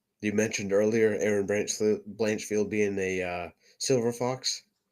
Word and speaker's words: Blanchfield: Blanchfield.